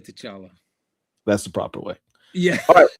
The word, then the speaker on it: T'Challa: I always imagine it with the T vocalized.